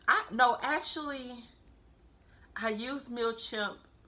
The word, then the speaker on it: Mailchimp: not a thing about mil champ I keep on pronouncing it wrong the thing about mail chimp is that it's only